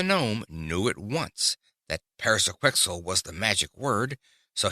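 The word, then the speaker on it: Pyrzqxgl: to become a walnut Paris a quickel he said aloud but he did not pronounce the magic word in quite the right way and rug's form did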